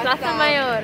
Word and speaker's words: Plaza Mayor: We're in Plaza Mayor. How do you say it? Plaza? Yeah. Plaza Mayor.